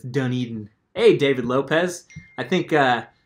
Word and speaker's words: Dunedin: little hard to pronounce it looks like Doudna din but it's Dunedin hey David Lopez I